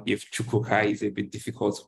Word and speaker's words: Chukwuka: If Chukwuka is a bit difficult to pronounce.